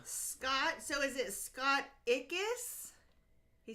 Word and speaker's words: Ickes: Scott, so is it Scott Ickes? He said Scott, because I think I would have said Scott Ikes. That's how I would have pronounced it, but he said it rhymes with Spartacus.